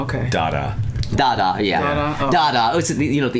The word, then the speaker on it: Dada: Oh. Dada. It's an art reference. Oh, no, I wasn't sure if you said get, but I'm saying it wrong. No, I thought you said ta-da at first.